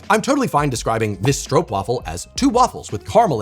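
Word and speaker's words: stroopwafel: But if I hear an American say that it's a stroop waffle, I'm like, "Wo wo." Now that's not acceptable. Okay. Stro, not stroop.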